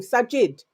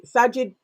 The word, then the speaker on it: Sajid: Sajid. Yes. Sajid.